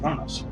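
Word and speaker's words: Qo'noS: Even though it's Q-O-N-O-S, it's actually pronounced Kronos.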